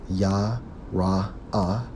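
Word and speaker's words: ירא: Strong's H3372 pronounced as Yah-Ra-Ah, which means what?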